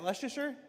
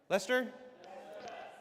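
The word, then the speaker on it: Leicester: How do you say, is that Leicster? Lester.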